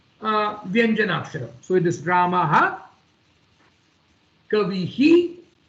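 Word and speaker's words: कविः: But when the same Visarga comes at the end of a letter, or the word called Kavi, it is not pronounced as Kaviha, it is pronounced as Kavihi.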